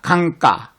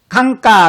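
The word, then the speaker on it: गंगा: 힌디어 사전 에 GS 를 입력 하고 발음 을 들어 보면 ' 강가 ' 라고 발음 됩니다 .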